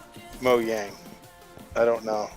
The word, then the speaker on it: Mojang: right about Mojang because I think it should be pronounced Mo yang I don't know like